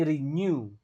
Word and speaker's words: renewable: Nah, ini renew. Renew. Jadi, AW dibacanya u kayak new. Jadi, kalau NW pasti dibacanya kayak new, kayak NYU.